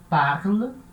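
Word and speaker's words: parlent: E terceira pessoa, il, elle, terminação é e, ent, né? Mas fala e, e é uma sílaba fraca, então fica parle, il parle, elle parle, tá? Se pronuncia igual a primeira, a segunda e a terceira do singular, parle.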